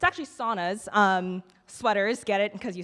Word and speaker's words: sauna: It's actually saunas. Sweaters, get it, because you sweat. Sauna is actually a Finnish word, and it's pronounced sauna.